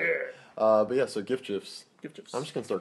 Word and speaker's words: GIF: Like, it's actually GIF, but then they just started saying GIF because they saw the world.